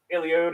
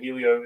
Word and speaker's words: Helio: great ride for him people get mad when I call him Helio it's Elio so if I say Helio sorry that's just that's just a mispronunciation I can't believe I'm